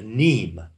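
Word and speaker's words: mneme: A neme is spelled M-N-E-M-E. A neme. It's pronounced neme.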